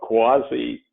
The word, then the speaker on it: CUAHSI: ideas motivate us and what we do so quasi and here's the phonetic pronunciation which some people need but we're a